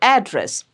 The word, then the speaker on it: address: So that is a noun and it has two syllables. So it'll stress on the first syllable. Address.